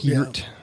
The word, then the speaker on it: Peart: Peart.